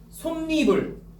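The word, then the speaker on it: 솜이불: 솜니불.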